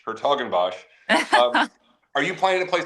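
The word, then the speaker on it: 's-Hertogenbosch: how you pronounce that no one knows how to pronounce that it's the it's the lowercase s and then a capital H her toen BOS are you planning to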